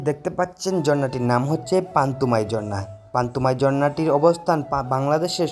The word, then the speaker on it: পান্তুমাই: বাংলাদেশের সবচেয়ে সুন্দর গ্রাম যদিও অনেকে একে পাংতুমাই বলেন কিন্তু এর সঠিক উচ্চারণ পান্তুমাই গাইস এখন আমরা জর্নার